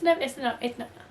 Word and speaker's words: Nona: I'm pretty sure, well, the narrator pronounces her name Nona, so I'm pretty sure that's how you say it. Nona. Nona? Nona. It's Nona.